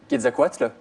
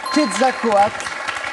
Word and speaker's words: Quetzalcoatl: Quetzalcoatl, le serpent à plumes. Exactement. Quetzalcoatl, le serpent à plumes. Et bravo pour la prononciation parce que elle n'est pas évidente.